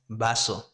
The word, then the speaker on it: vaso: That's vaso. And both, you pronounce them the same. Vaso, vaso. That's it. It's the same. There's no difference.